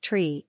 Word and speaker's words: tree: Cessna 8509-0 the number three is pronounced tree and the number five